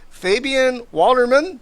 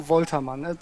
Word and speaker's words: Woltermann: Fabian Walderman. Did I say that right? Mostly, yeah. How do you say it? I should have asked before we started. I keep forgetting to do that. Sorry, Fabian Woltermann. It's the German Oh, pronunciation. It's a Woltermann. little bit different.